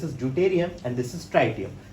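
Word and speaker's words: tritium: इसको हम कहते हैं प्रोटियम, this is ड्यूटेरियम and this is ट्राइटियम। कुछ लोग इसे ट्रिटियम भी प्रोनाउंस करते हैं, ओके।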